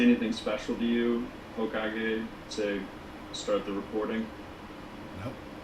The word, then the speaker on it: Hokage: Hokage, am I saying that right? Hokage? Yep. Hokage.